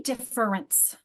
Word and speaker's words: difference: say, well, I say difference, like in natural speech. Okay. Okay. I just want to clarify. Thank you. Most of us will say difference. And that second syllable in defer kind of goes away, doesn't it?